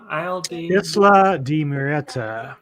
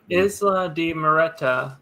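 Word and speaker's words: Isla de Muerta: So the next day, they're introduced to all the crew members, and they on Isle de Moret. How do you say the name? Isla de Moreta. Isla de Moreta.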